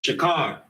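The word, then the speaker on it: שָׁחוֹר: It's shakar.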